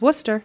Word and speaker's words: Worcester: the town in western worcester worcester no no just worcester no r worcester okay there you go